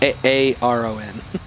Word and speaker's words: Aaron: It's spelled A-A-R-O-N. It's pronounced A-A-Ron.